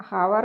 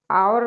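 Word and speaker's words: hour: हम हावर नहीं बोलते हैं। आवर बोलते हैं।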